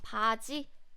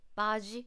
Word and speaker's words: 바지: So it's not English J. It's not 바지, 바지, 바지. It's not like that. It's 바지, 바지. When you pronounce this G sound here, it's similar to CH with less air, lower pitch.